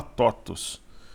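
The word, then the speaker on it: TOTVS: Se lê TOTUS, né? Se escreve... É TOTUS 3, né? Mas a empresa se fala TOTUS.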